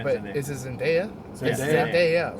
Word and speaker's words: Zendaya: Yes, Zendaya.